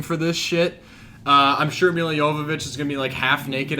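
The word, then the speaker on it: Milla Jovovich: I'm going to say Mila Jovovich, because that's how I always say her name, even though it's Mila Jovovich.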